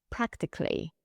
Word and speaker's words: practically: In practically, we don't pronounce the second A.